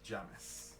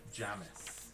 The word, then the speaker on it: Jamis: and uh should I say my name is Jamis Janice Jamis Jamis j-a-m-i-s I know listening though it's a